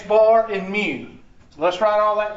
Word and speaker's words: mu: It's also called X bar and mu. So let's write all that down. The average, the mean, X bar, or mu. Mu is a funky looking M. It's pronounced M-E-W.